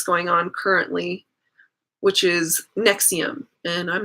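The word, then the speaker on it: NXIVM: the next cm case which is not spelled the way it sounds it's all capital letters it's Roman numerals it's nxb I am but they pronounce it nexium which was supposed to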